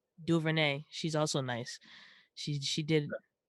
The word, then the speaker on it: DuVernay: Ava DuVernay. DuVernay.